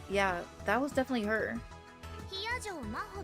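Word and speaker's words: 比屋定真帆: Hiyajo Maho って読むの。 Hiyajo Maho.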